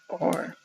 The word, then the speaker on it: Fakir: Fakir? I don't know. He's just like a magic person. Let me actually look this up because I don't want to accidentally say it wrong. It's Fakir.